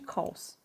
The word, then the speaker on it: CHAOS: raríssima, chamada síndrome de Chaus. Se escreve síndrome de Chaus, para quem tiver curiosidade, CHAOS.